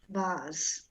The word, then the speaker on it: vase: Vase. Vase. Vase. Yeah. Vase. Yes, actually, yes. A final E not pronounced should become vase, but I don't know why they say vase.